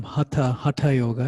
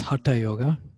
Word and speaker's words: hatha yoga: in yoga you may have heard the term cutta cutta yoga it's actually pronounced hatha yoga it's it actually means the union of different